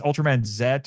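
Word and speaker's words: Ultraman Z: not, there's actually an Ultra Series with It's Ultram Man Zet or just looks like a Z, but it's supposed to be pronounced Zet.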